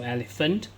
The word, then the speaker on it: elephant: so e l e so pH sometimes pH you pronounce as F so elephant so a n t